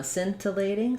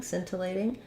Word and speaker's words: scintillating: syllable stress here um the C is silent so it just sounds um like sin in the word um simple or sin in the word sin uh scintillating scintillating um because in this